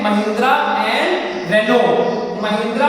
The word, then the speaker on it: Renault: तो वो महिंद्रा और रेनो, जिसको आप लेमैन में रेनोल्ट कह देते हैं, उसका सही प्रोनाउंसिएशन रेनो है, RENAULT, रेनो, जिसकी डस्टर वगैरह आती हैं.